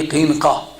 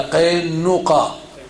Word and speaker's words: قینقاع: نذیر، بنی قریظہ، بنی قینقاع یہ یا قینقاع دو تلفظ اس کے، یہ تین قومیں یہودیوں